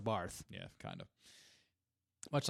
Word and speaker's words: Abarth: both love the 500 Abarth or a Bart is how they say it and don't age that's just Abarth yeah kind of much